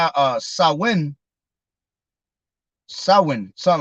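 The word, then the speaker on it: Samhain: times same Hain Sam Hayne uh Gaelic word pronounced uh saw when so when something like that so when all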